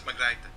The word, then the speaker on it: Margrethe: It was Margrethe. Oh, forget it. We're going to call it Marguerite Vestager.